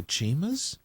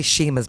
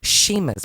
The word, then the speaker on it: Chima's: dollar gift certificate to Chima's it's actually Sheamus by the way Chima's is a different restaurant c-h-i-m-a it's pronounced Sheamus pronounce it correctly that's why we haven't